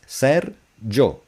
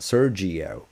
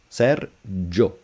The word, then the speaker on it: Sergio: My name is Serjo, not Sergio. Serjo.